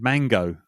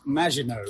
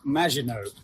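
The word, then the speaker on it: Maginot: I nearly said I nearly said mango. God almighty. Don't say mango. It's pronounced majino.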